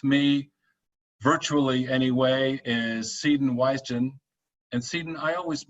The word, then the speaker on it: Wijsen: Yeah, you're close. It's Wijsen. Wijsen. Oh, the J has no role whatsoever. Exactly.